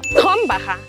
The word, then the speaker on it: Krombacher: Krombacher. La primera R gutural, la CH como una J y la R al final como una A. Krombacher.